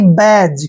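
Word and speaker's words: badge: आपने ध्यान रखना है जब भी जी से पहले डी आता है तो डी का उच्चारण आपने नहीं करना है याद रखिए अब बी का उच्चारण हम क्या करते हैं ब और ए को क्या पढ़ेंगे की मात्रा डी का उच्चारण हम यहां नहीं करेंगे और जी का उच्चारण यहां पर क्या करेंगे ज यानी कि बैज क्या पढ़ेंगे इसको बैज बेज मीस होता है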